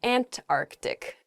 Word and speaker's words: Antarctic: earth the south is the ant arctic there's sort of like almost a hiccup in the word they're antarctic oh uh in